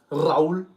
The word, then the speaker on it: Raul: Raul. You want to roll your R's and feel powerful.